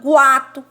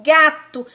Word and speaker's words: gato: Eu não falo guato, guato, eu falo gato.